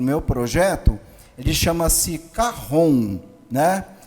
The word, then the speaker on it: cajón: meu projeto de chama-se carron né O que que é o carro on Na verdade ele se escreve chj o n cajón mas é um instrumento